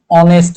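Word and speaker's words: honest: যেমন an hour আমরা ইউজ করি একইভাবে অ্যান অনেস্ট ম্যান তাই না যেমন আমরা একটু আগে ইউজ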